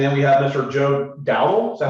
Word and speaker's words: Dowdall: Joe Dowdall. Is that how you say it? Yes, Joe sir. Dowdall right here.